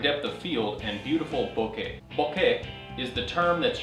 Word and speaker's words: bokeh: kind of like okay except with an e on the end and a b up front so Boke say it with me Boke not Boke or bokei or it's B now you'll hear